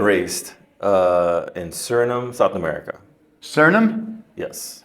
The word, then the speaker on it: Suriname: Suriname? Yes. Spell that. Suriname. Yeah, think about it, didn't you? Yeah, because usually it's just, I usually say SURI and then say name.